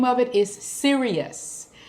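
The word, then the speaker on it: Sirius: of it is Sirus now people call it sirious but I call it Sirus all right so that's what I'm goingon to be saying so please don't worry about it and say oh you saying it wrong cuz I know what I'm doing okay the Greeks called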